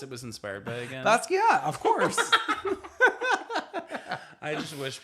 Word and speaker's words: Basquiat: Basquiat, of course.